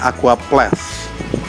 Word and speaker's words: Aquaplast: Tapi bacanya Aqua Plus karena tulisannya begini. Nanti gue dihina-hina netizen lagi bahasa Inggrisnya jelek.